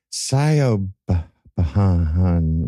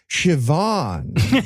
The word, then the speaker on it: Siobhan: Okay, I'm getting somebody in the room named Scio Bahan. Wait, wait, prophecy. God is telling me it's pronounced Siobhan.